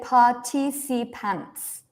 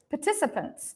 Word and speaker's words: participants: parci I don't say partipants right I don't say partipants right I say participants participants participants it's like